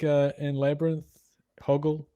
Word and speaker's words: Hoggle: like uh in Labyrinth, Hoggle, but David Bowie never calls him Hoggle. He calls him Haggle or Higgle, you know, he always gets his name wrong every time you see him.